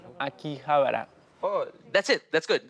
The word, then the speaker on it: Akihabara: this please yeah howie yes how can i pronounce akihabara oh that's it that's good akihabara is the premier location for shoppers and collectors